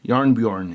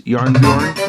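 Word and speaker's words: Jarnbjorn: So I did look up some videos of Norwegians pronouncing Bjorn, so I think it's Yarnbjorn. Yarnbjorn. Yeah, there it is. Yarnbjorn, right?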